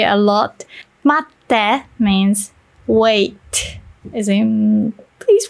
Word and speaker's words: 待って: But if you say matte, then that's a friendly request.